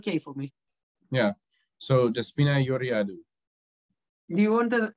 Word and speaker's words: Georgiadou: Oh, first, your name is pronounced Georgiadou, right?